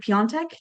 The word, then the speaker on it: Piatek: And so we have today David Piatek. Did I pronounce that right?